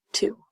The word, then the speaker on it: two: because what we see there's going to be a silent letter a letter that does not make any sound of this word so see if you know which letter it is so two blue this is the